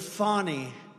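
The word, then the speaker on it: Fani: You have to pronounce Fonnie. I don't know how she gets. She should add a little U in there someplace if she wants people to call her.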